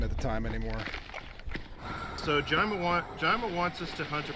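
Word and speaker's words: Jayma: So now we're going to meet Jama, or the proper way to pronounce it is Jima, but I think it sounds ridiculous. So, or I was going to say, Jama.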